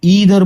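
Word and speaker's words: either: इन दो वर्ड्स को लोग आइदर और नाइदर भी प्रोनाउंस करते हैं, लेकिन वो पूरी तरह आप पर डिपेंड करता है आपको इसको कैसे प्रोनाउंस करना है। दोनों तरीके सही है। ओके, लेकिन स्पेलिंग अलग नहीं होगा, दोनों का स्पेलिंग एक ही रहेगा। तो या तो आप उसे ईदर बोलिए या आइदर बोलिए, या इसे नीदर बोलिए या इसे नाइदर बोले।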